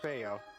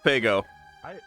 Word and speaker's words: Faygo: Is it Faygo or Fayo? Faygo. Faygo. Faygo. Faygo. I heard that the G is silent. That would sound really stupid. I really hope not.